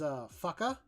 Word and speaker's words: Faka: My new favorite word is fucka. Sorry for anyone that's young here and all that stuff, but it's spelled Faka.